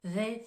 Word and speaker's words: they: à répéter plusieurs fois they think le TH de the il est plus prononcé on va mobiliser les cordes vocales tandis que le TH de Think il va être plus doux donc je me répète they